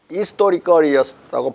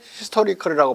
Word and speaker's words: historical: 왜냐면 이스토아라고는 불어에서 나온 말이기 때문에 그러니까 이스토리컬이었다고 봐야 돼 발음이.